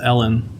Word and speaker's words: Allen: I'm like, her name is pronounced Ellen, but it's pronounced with an A. And the woman's like, what? And I'm like, it's spelled like Allen, but it's pronounced Ellen. I don't know what to tell you.